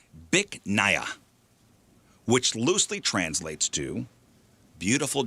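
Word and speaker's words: Bich Nga: It's pronounced Bic Naya. BICH space NGA.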